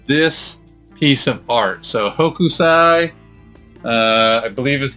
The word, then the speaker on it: Hokusai: So Hokusai, I believe is how you pronounce it, Hokusai, Japanese artist, and I believe the 1700 time frame, and apparently did hundreds of works.